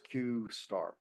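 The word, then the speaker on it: Q*: qar and it is q asteris but it's pronounced qar well this is claimed to have been an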